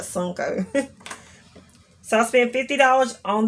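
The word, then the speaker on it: Sunoco: this gas station called i call it sunco but it's spelled suno co like this sun oco but i always call it sunko so i spent 50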